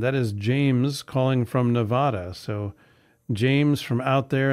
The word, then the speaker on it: Nevada: people who live here will will say it's pronounced Nevada andada not Nevada tomato tomato yeah so well you know for